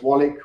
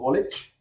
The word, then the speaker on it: Wallich: will know the name either as wallach or wallich it doesn't matter how you pronounce it and uh he